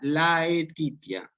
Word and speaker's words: laetitia: Para que ustedes pronuncien propiamente saevitia, laetitia, saevitia, laetitia, tristitia. Fíjense, como está escrito, se pronuncia saevitia, laetitia, tristitia.